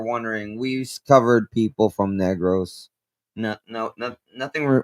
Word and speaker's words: Negros: First off, it's not pronounced as negro. It's pronounced as negros.